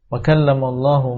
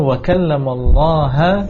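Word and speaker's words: وكلم الله: ketika membaca firman Allah, wa kallamallahu Musa taklima, kemudian merubah harakat lafzul jalalah menjadi fathah, kemudian membacanya wa kallamallaha Musa taklima, dirubah harakat yang asalnya adalah wa kallamallahu, berarti Allah sebagai lafzul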